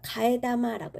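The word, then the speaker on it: 替え玉: 자, 요 한자가 가에다마라고 읽거든요. 자, 카에다마가 100엔이라는 거예요.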